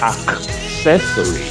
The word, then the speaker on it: accessory: With that in mind, accessory is pronounced as accessory. Accessory, not accessory, but accessory.